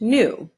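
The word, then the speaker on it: gnu: animal is a new it's pronounced new or it's called a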